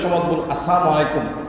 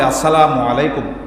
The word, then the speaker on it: আসসালামু আলাইকুম: কুসংস্কার আছে এক নম্বর সালাম উচ্চারণ সমসলাইকুম সালামু আলাইকুম হয় না হয় তহলে উচ্চারণ শুদ্ধ হতে হবে। আসসালামু আলাইকুম। আসসালামু আলাইকুম।